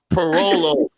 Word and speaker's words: Pirolo: All those O's at the end, but it's like Rolo, like the Italians with the vowels.